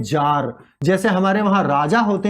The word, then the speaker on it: czar: जार का मतलब Russia, ये स्पेलिंग देखिएगा इसको, CZAR, ये है जार।